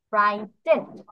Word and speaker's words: frightened: এখন দেখো এই যে জিএইচ, জিএইচ এর উচ্চারণ কিন্তু গ অথবা ঘর মতো হয়, বাট এখানে কিন্তু পাইনি, তাহলে এটা কিন্তু এক্সট্রা আসলো। ইর মতো, স্কেয়ার্ড এর ইর মতো এখানে জি আর এইচ আমরা এক্সট্রা পাচ্ছি বানান, fruit, F আর আই জি H, fruit, এটা দিয়ে পুরো প্রায় উচ্চারণ হচ্ছে।